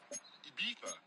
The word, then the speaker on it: Ibiza: I just went to Spain, that's Ibiza. Ibiza. Yeah, it's pronounced Ibiza, actually. Yeah.